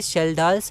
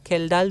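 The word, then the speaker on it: Kjeldahl: एक है Dumas method और एक है शेल्डाल्स मेथड, ठीक है। अब इसका प्रोनाउंसिएशन क्या होता है, तो इसका प्रोनाउंसिएशन या तो शेल्डाल होता है या खेल्डाल भी होता है, पर मैं शेल्डाल बोलूँगा, ठीक है।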